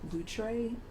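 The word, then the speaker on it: Loutre: um Channel on YouTube called lray I think that's how you pronounce it but it's spelled l o u t r e and they have um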